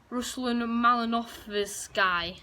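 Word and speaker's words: Ruslan Malinovskyi: Atalanta, they only scored 1, and it was Ruslan Malinov's guy.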